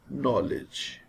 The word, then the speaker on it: knowledge: K is silent in these words. This word is pronounced as knife, knee, no, knock, knowledge.